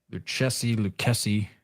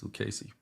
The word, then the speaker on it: Lucchesi: Lucchesi. I can never pronounce his name. It makes me want to say like the boots, like the cowboy boots, Lucchesi.